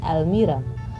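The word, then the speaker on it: almirah: में बोला जाता है अलमीरा। अलमीरा, और एच यहाँ पर साइलेंट होता है, दिस इज कॉल्ड एज अलमीरा।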